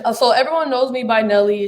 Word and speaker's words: Eneily: everyone knows me by nelly it's just people never knew how to say my name but my real name is actually and